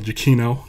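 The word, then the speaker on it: Giacchino: pronounce Michael's name uh it's Michael jakino now that I know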